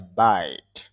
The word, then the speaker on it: abide: শব্দের শেষে ই থাকলে লিখে আসে উচ্চারণে আসে না সাধারণত।